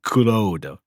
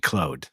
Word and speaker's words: Claude: The kadakana for his name Yes. reads as kurodo. Yes. Right. And so for whatever earthly reason, everybody in this dub pronounces it Clo.